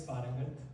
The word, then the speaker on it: Parangat: My name is Parangat. It's spelled P-A-R-A-N-G-A-T.